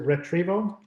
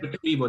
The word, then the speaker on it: Retrevo: So when you're getting into, and I say that, is it retrieval? How you say it? Retrievo, that's RETREVO. Yep.